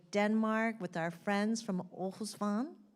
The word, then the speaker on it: Aarhus: with our friends from Osan did I say it right yes and from the water